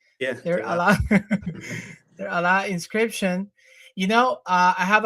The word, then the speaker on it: Deir Allah: How do you pronounce it? Deir Allah. That's the way you say it. Yeah. Deir Allah.